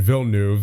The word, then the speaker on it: Villeneuve: You got York, Lambos, Carlson, Ekholm, Iorio, and Villeneuve. That's apparently how it's pronounced, from what I was told in the comments.